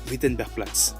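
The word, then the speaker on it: Wittenbergplatz: de cœur a été witenberg plat oui c'est un W là-bas le W se prononce V si vous cherchez votre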